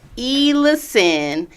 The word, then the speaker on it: Ellison: Ellison is how you say the place.